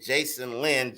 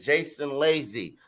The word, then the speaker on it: Jason Lazy: And I said this name wrong last time in the shout outs. Jason Lazy. I said Jason Lynn, Jason Lazy.